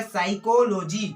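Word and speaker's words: psychology: कैसे, देखिए यहाँ पर गाइस, देखिए यहाँ पर p के बाद s आ रहा है, क्या आ रहा है, s, तो जो है p जो है साइलेंट हो जाएगा, p को नहीं पढ़ेंगे। ठीक है, तो ये क्या लिखा है, साइकोलॉजी।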